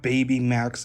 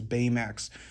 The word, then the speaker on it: Baymax: It's not Baby Max, it's Baymax. You know, like Baywatch?